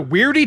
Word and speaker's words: W.E.I.R.D.E.: Sir, as an authorized agent of the Weirdy Task Force, the Weirdy Task Force, we usually just say weird. The E is silent.